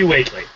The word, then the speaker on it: Whately: Whately? We. It's like Worcester. No, I don't know. Yeah. For the center of town. Waitley. It's definitely Waitley.